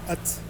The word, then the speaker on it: Ath: On a hâte. Hâte. Ça s'écrit ATH. ATH. ATH.